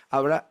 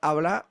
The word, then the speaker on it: habrá: es habrá un cántico le falta el acento en la a habrá habrá un cántico que no